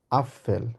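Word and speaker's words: Apfel: আমরা বলবো হচ্ছে দেয়া আপফেল যেহেতু এখানে পি আছে মানে যার মানে আমরা এটাকে বলেছি আ এফ এ এল ওই জন্য আপ হবে প্রথমে প এর মধ্যে উচ্চারণ আবার হবে ফেল যেহেতু এফ আছে দেয়া আপেল সবাই আমার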